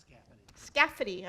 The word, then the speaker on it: Scafidi: Ben Scafidi, am I saying your name? Scafidi, okay.